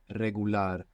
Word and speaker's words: regular: talk about this R an initial a like in regular in most Spanish dialects it's rolling are you get this flick of the tongue regular real we saw this